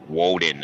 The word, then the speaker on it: Odin: it's the woman and odin in the wheelchair right oh woeden as it would be pronounced in in their tongue but yeah i love